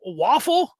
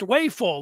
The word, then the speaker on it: Wafel: say uh it's a waffle because that's how it looks with just one less uh f it is pronounced wayful like me after I have an extra couple slices of pizza that I'm asked do